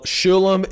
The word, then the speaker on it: Sholom: Yeah, well, Sholom is the right way to say it, folks.